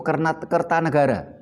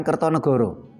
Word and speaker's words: Kertanegara: Terus umpamanya Raja Singasari itu Kertanegara, bukan Kertonegoro. Karena sastra Jawa mengenal vokal U setelah abad 15.